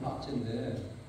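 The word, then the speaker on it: pace: 그래서 저거 루마니아식 발음은 빠체인데, 그럼 빠체가 뭐냐면 샬롬이에요, 샬롬.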